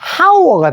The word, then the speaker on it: hour: H는 묵음입니다. 소리가 안 났어요. 그래서 아만 됩니다. 만약에 H가 소리 났으면 hour가 되잖아.